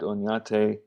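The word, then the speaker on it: Oñate: a spanish explorer named onyate pronounced as if there was a y after the end cut off the right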